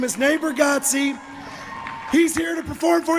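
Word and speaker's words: Nate Bargatze: Natebargatze.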